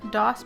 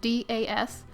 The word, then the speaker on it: DAS: going to be using dos brand paper clay i'm not quite sure if i'm saying that correctly i've been told i'm not saying it correctly in the past but it's das and i'm going to be